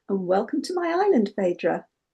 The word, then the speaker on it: Phaedra: and dad christened me Fedra or we pronounce it Fedra because of the old flat vowels.